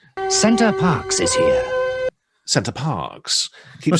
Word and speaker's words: Center Parcs: retakes, which is why I think he says Center Parcs wrong every time he says it until the very end.